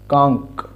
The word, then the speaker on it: conch: CONCH, এটার উচ্চারণ হয় কাঙ্ক, অর্থাৎ এই CH দিয়েও কখনো কখনো ক উচ্চারণ হয়।